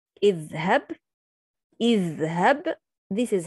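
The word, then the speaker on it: اذهب: If I start with the word, I pronounce it, but if I connect, I don't pronounce it. Idhhab, idhhab, this is how I start.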